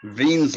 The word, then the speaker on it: Wien: Also, there's something called Wien's law, W-I-E-N''S, but it's pronounced like a V.